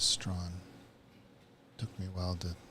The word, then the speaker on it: Strachan: Yeah, well, the chat overwhelmingly says it's Strawn. So until I hear otherwise, that's how I'll be pronouncing the name. Because When we had the World Women's competition, they pronounced it as Strawn.